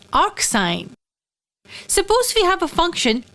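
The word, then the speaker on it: arcsine: be denoted like this it is pronounced as arc sine suppose we have a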